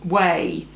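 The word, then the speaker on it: Ouai: Now, what's interesting is not all the products from Way smell the same way. That is how you pronounce it, by the way.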